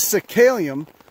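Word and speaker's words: Psacalium: This is Cicalium. It's spelled with a P, if that makes any sense. Cicalium decompositum.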